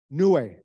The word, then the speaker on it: Niue: As Naomi pointed out earlier, you know, this fabulous Chiapo, how is that island pronounced? Niue, right.